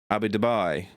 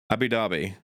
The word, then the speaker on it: Abu Dhabi: And that is in Abu Dubai. I pronounced that so wrong. Abu Dhabi UAE hopefully an early fight card for the UK fans.